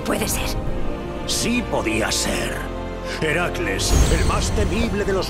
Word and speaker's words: Heracles: Tras vencer a la gorgona que había atacado a Heracles. ¿Por qué haces esa cosa tan rara con la voz? ¿Heracles? Sí, eso. Se supone que hay que pronunciarlo así. Te vas a asfixiar con tanto trabalenguas.